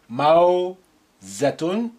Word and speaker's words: موزة: Wow with sukun sound ow. موزة موزة.